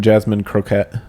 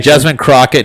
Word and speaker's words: Jasmine Crockett: I always want to say her name, Jasmine Croquette. Croquette. Croquette. Definitely not. She's not really. Trying to go with like an Andrew Clavin kind of pronunciation. Yeah, Jasmine Crockett, no relation to Davy, but I mean, they